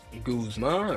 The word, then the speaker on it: Guzma: Guzma rhymes with Kyle Koozma. All right.